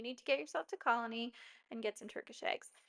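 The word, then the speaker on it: Colonie: We decided to go to one of my parents' favorite restaurants on um Atlantic Avenue called Colony. Colony is excellent. It's spelled C O L O N I E.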